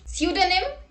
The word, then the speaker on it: pseudonym: P is not pronounced at the beginning of many words using the combinations PS, PT and PN. Let's look at the example. Psychiatrist, pneumonia, pneumatic, psychotherapy, psychotic, psychologist, pseudonym, pterodactyl.